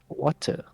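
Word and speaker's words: Wachter: Yes, it's not Watcher, it's Watcher. pronounced as Water.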